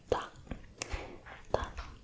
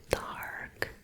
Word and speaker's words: 닭: So this one is duck. I know it looks like dark. It does look like dark, but it is duck.